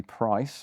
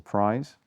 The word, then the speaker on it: Price: So most people know this as the Webley Price or Prize. I think Price is probably the correct pronunciation.